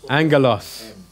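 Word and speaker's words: ἄγγελος: Angelos.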